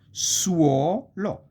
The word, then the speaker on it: suolo: Suolo. This is a diphthong inside the syllable. Okay, you have the S and then the two vowels, and then you have another syllable is lo.